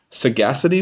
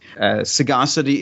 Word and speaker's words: Sagacity: Sagacity is a rare word, so like no one uses that word. And so most people called it Saga City, as if it was two different words.